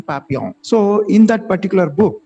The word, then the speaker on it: Papillon: book is known as in english pronunciation papillon and in french pronounce your pronunciation papiyan so in that particular